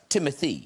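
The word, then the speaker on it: Timothée: Florida you are actually I meant to say Timothy it's pronounced Timothy it's whatever you like who has inspired you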